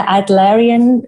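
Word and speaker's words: Adlerian: you said you're a psychologist you do the adarian methodology or protocol am I correct in my pronunciation yes well done yes after named after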